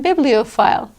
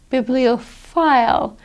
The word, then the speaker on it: bibliophile: Okay, we have PH words like philosophy, and bibliophile. There, that PH is pronounced like an F. Philosophy, bibliophile, because a PH is not pronounced as a P, P plus an H, it's pronounced as an F.